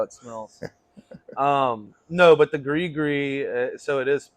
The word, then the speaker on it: Gris Gris: No, but the Grigree, so it is pronounced Grigree.